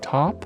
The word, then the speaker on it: taupe: soundtracks on Tidy to how do you sp pronounce this word t a u p e to top top top top what does that